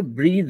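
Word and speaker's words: breathe: ब्रेथ नहीं होकर के ब्रीद है.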